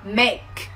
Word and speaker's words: make: Chị ví dụ nhá, thay vì em đọc là make, make, em bật âm ca xuống, thì bây giờ em sẽ đọc là make, make, make, không bật hơi xuống thôi.